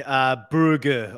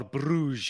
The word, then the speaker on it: Brugge: Brugge, or Bruges, as many people like to say it or pronounce it.